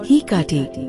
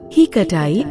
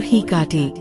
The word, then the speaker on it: Hecate: say it heat or heti without stressing the middle syllable but in ancient times her name was pronounced like this with stress on the middle syllable heatai or hiti practice saying it out